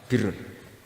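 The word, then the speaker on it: بِرّ: Ya kalau di isim fa'ilnya umumnya guru-guru kita baca barin, tapi untuk masdarnya untuk kebaikan bacanya apa? Birun. Nanti kamu protes, oh barun itu daratan Gus, kalau birun itu kebaikan. Aku itu macaku kamus luwih suwi bocah kok sembrono.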